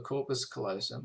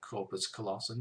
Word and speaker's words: corpus callosum: Now, this joining section is called the corpus callosum or corpus callosum, depending on how you prefer to pronounce it.